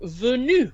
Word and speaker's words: venu: We have the same sound in the word venu, which again means came. So V-E-N-U, that E is E. So it's not venu or venu, it's venu. Can we say that? Venu. Venu. Très bien. Exactly. Venu.